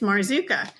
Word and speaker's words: Marzuka: face and he said, "Hi, my name is Marzuka. You spell that M A R Z U K A.